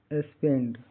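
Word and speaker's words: spend: हिंदी अर्थ लाल रंग एस टी पी ई एन डी का उच्चारण स्पेंड एस स आधा स मतलब ये संयुक्त पूरा स तो नहीं बोला जा सकता एस है तो एस से स पी ई से पे एन से न और डी से ड स्पेंड यहां इ का उच्चारण ए छोटी ए की तरह होता है। जैसे पेन स्पेंड पेन सेंड स्पेंड का हिंदी अर्थ मीनिंग खर्च करना, समय बिताना।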